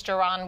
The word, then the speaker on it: Jiron: safety and joining us now as Captain Doron with more on that and did I say